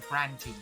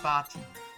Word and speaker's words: Brandtini: It's a brandtini, not a bartini.